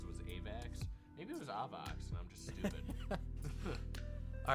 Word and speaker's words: AVAX: the second thing is when you say avax you know it's actually pronounced a vox really yeah why why